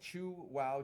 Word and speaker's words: Chuao: it's a thin mold it says chew wow Chow on that's how you pronounce Chua right chu wow Chu and you can